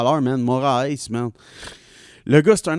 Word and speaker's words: Moraes: Un combat de Marlon Moraes. C'est comme ça qu'on le prononce, monsieur? Ouais. Marlon Moraes Oui, contre Henri Cejudo.